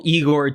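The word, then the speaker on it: Egor: I'm going I love to call him Eigor, too, just cuz it's like way funnier that way. But yeah, I guess it's pronounced Jagor, but it is what it is.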